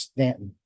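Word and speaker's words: Staunton: this we packed up and drove North to Stanton Virginia Stu n t o n looks like Stanton but it's pronounced Stanton our goal this day was to chase the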